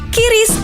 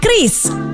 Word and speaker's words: QRIS: Ada yang menyebut QRIS, KIRIS, atau ORIS. Kepala Grup Departemen Kebijakan Sistem Pembayaran DKSPBI, Fitria Irmi Triswati mengungkapkan, pengucapan yang benar adalah KRIS.